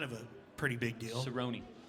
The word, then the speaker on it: Cerrone: Cerrone. Cerrone. Cerrone. It's a Yeah. soft C.